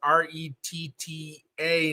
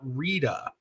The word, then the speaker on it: Retta: By the way, Retta is pronounced R-E-T-T-A, not Rita.